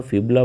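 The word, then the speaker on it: fibula: इसे हिंदी में फाइबुला लिखा हो, फिबुला बोलते हैं दोस्तों इंग्लिश में इसको, जो इसकी प्रोनाउंसिएशन है।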